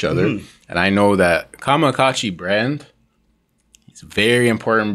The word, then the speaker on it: Kamakacci: So it's Kamakacci, because a lot of times people say Kamachi, this, that, and the third. It's pronounced Kamakacci.